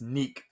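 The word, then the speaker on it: Nique: rebounds four assists it's oh it's Nick it may be Nick but it's spelled Nick so n iqe but neck Clifford 19 almost 20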